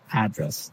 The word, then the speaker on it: address: where you live yeah and there the stress is on the first syllable address right perfect very good